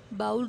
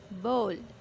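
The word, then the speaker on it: bowl: बाउल wrong pronunciation है, correct pronunciation is बोल।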